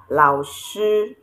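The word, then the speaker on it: 老师: Here I said this is lao shi. Lao shi means teacher. I said lao shi because this is the falling and rising tone. It falls and rises.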